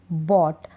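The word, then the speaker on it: bought: GH है, क्या है, OU के बाद GH है, हम GH को नहीं पढ़ रहे हैं, बॉट, GH तो गायब सा हो गया, मतलब साइलेंट है, इसमें नहीं पढ़ा जाएगा।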